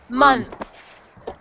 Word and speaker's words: months: When you said months, it's just one sound or sorry, one syllable. So, not month is months, but months. Months.